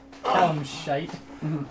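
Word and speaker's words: Calishite: Yeah, Callum Shite.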